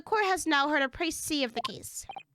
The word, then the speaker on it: précis: So the court has now heard a précis of the case. It's so weird. The S is just silent.